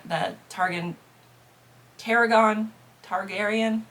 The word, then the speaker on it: Targaryen: F the targan Teragon Targaryen Targaryen I think is the right way to say that Dynasty uh from Game